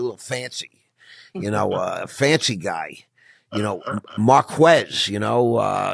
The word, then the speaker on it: Marques: But, when you say Marcus, you got to spell it out for everybody. So it's Marquess. That's correct. Marquez. Nelson kept saying it's Marques Ogden. I'm like, I think she spelled it wrong, Stephanie. It's Marquez. I mean, but that's the proper spelling, correct? Yes, sir. Marques. You got to spell it. Don't ever say Marques Ogden because people are going to say, who the hell is Marc?